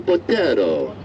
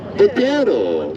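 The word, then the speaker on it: Botero: That is an original by Colombian artist Fernando Bero. Badero. Did I say it right? Okay, good. I work hard on that pronunciation.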